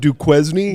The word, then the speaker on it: Duquesne: sleep on due uh it's pronounced Duquesne actually but yeah they I